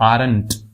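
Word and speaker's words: aren't: यू आर नॉट या फिर यू आरंट। ऐसे ही आर नॉट को बोलेंगे आरंट। अब टी को थोड़ा सा साइलेंट कर लेंगे, आरंट।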